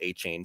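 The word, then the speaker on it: Achane: We heard the Devon A-Chain, and I did learn it is pronounced A-Chain. So I'm trying to readapt the way that I say it. Devon A-Chain, he impressed with minicamp.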